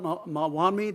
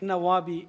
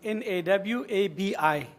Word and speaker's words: Nawabi: Mawami, did you say? Nawabi, N-A-W-A-B-I. Okay. N-A-W-A-B-I. Nawami. Thank you. Nawabi, yes.